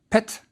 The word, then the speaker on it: pt: our last word has a rectangle which is a pa and a semi-circle which is a ta so it's pronounced pet the hieroglyph under it